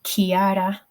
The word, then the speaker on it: Chiara: Because I know in Italian, for example, if you have a ch letters together, that is pronounced k, like Chiara. So it would be k, whereas in English we would typically make it ch.